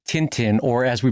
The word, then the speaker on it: Tintin: hanging so it's it's a nasal end okay I've said it wrong for decades well my apologies to all of Belgium. Um, so, uh, anyway, so in Tintin and and in a